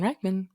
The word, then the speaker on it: Reichmann: This is your host, Reman. Now, as you may know, my name rhymes with specimen, but with a J, and I am a